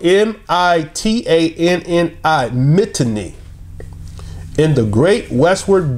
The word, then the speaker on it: Mitanni: Okay, that's spelled M-I-T-A-N-N-I, Mitanni, in the great westward bend of the river, where it approaches most closely to the Mediterranean, right?